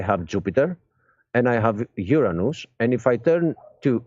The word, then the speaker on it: Uranus: and by the way this is how to pronounce it so no funny jokes are made it's Uranus all right um so